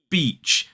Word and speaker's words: beach: Beach.